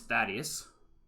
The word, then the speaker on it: Thaddius: sure you have questions firstly my name is Thaddius no I'll do spell that d h a d d e s